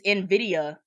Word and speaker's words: Nvidia: It's Nvidia. That's how you say it.